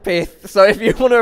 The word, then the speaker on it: pyth: Ran to the manager after and I've always thought it was Pyth. I've always corrected people like, "No, it's pronounced Pyth." Manager was like, "Okay." Didn't like you saying that. It's pronounced Pith.